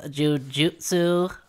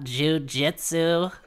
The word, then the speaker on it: jujutsu: excuse me radio chad it's actually pronounced jujutsu sorcerers it's not jujitsu god these guys don't